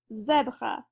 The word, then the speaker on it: zèbre: If the accent grave was not there, it would be zèbre, but now it's going to sound like the E in jet, so our first syllable is going to be ze, zèbre.